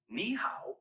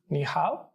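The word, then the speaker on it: 你好: nice to meet you niow is pretty straightforward to pronounce it sounds like me how just make sure to keep the knee part high and then go down and pitch on the how give it a try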